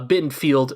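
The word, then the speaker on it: Bittenfeld: and you also forgot a bin filled it rhymes with Garfield rhymes with Garfield but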